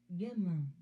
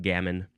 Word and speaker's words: gamin: Gamin. Yep, that's a much more Frenchy way to pronounce that word. Gamin, gamin. And in English, it's just gammon.